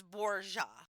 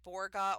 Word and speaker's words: Borja: he was from, and it's it's Borja. Okay. So, that's that's why I'm saying it like that. A lot of people will probably say Borga or Borgia depending on if you say it like Italian, but I'm saying it like the Spanish way I looked up.